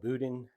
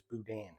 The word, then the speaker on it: boudin: to this budman and some people call it buen some people call it Budan but it's actually pronounced from what I've been told as Budan so it is um store-bought Budan that I